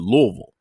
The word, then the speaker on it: Louisville: Is it Louisville or is it Louisville?